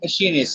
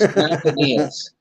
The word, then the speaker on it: Macanius: His name is not Machinist. His name is We're going to Macanius. rotate, and Harley will send it back to me for a week. The proper pronunciation is Macanius.